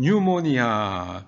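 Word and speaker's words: pneumonia: 영어로는 마타라 그럽니다 마로지 근데 영어로 오게 되면은이 피가 푸가 묵음이 됩니다 그래서 아 이건 뉴모니아 그때도 피가 있죠 아 뉴모니아 폐렴을 뜻하잖아요 뉴모니아 tool 그렇게 할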